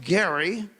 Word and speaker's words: Gerry: And so on September 10th, 1787, Elbridge Garry. Anyone know what Elbridge Garry is famous for? Yes, sir. What? The gerrymander. Yeah. He pronounced it Gary, not Jerry, but today we say the gerrymander.